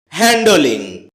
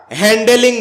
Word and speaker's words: handling: হ্যান্ডলিং। এটাকে আমরা হ্যান্ডেলিং বলে থাকি। যার সঠিক উচ্চারণ হচ্ছে হ্যান্ডলিং।